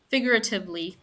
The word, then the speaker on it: figuratively: um syllables so figuratively figuratively can you guys say that figuratively yes there's a little trick between the G and the r figuratively figuratively it's almost like you don't pronounce the U so it says spelled